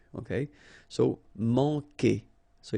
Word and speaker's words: Manquer: Manquer. Okay, remember when we get this Q, after that automatically we get this U, but then we don't pronounce the U, okay? So manquer.